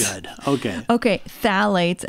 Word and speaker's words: phthalates: Phthalates, and it's started spelled with a P. Oh. Phthalates. Phthalates. Phthalates. It's pronounced. Okay.